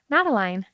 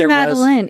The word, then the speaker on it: Madeline: Mattaline. It's always Maline. Even if I introduce myself to someone, I shake the hand. I say, hi, I'm Maline. It's repeated back, Matteline.